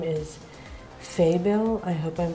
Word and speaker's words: Faebil: And the artist's name is Faebil. I hope I'm pronouncing it right.